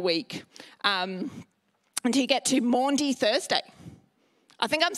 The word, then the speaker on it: Maundy: in that final week until you get to Maundy Thursday I think I'm saying all these right